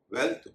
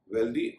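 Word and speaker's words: wealthy: वर्दी को देखते हुए कई लोग वेल्थ और हेल्थ में भी वेल्थदी और हेल्थदी कर देते हैं। लेकिन वहां पर उनका उच्चारण वेल्थी और हेल्थी ही होगा। इस तरह लेंथ में भी जब वाई लगाते हैं तो लेंथी होता है। उसका उच्चारण लेंथी नहीं।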